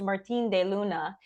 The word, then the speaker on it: Martine De Luna: guest Martin deuna she I pronounce that Spanish even though it's French sorry um it's a mix my first name is H French and my my surname is Spanish okay perfect then I pronounced it correctly you did so